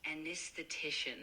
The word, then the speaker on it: anesthetician: Uh, it's pronounced anesthetician. Uh, the emphasis is on the tish part.